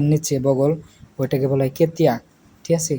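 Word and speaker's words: ketiak: তো বগলকে বলা হয় যে পাখা, হাতের নিচে বগল, ওইটাকে বলা হয় কেতিয়া, ঠিক আছে, কেতিয়া। লাস্টের কেটাকে হালকা করে উচ্চারণ করবেন।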